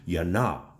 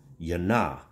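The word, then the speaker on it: יוֹנָה: the hebraic culture because there was no such thing as the j or the just sound everything had a y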